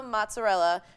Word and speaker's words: mozzarella: They use imported San Marzano tomatoes from Salerno, fresh basil, pecorino cheese, and an imported buffalo mozzarella from Italy.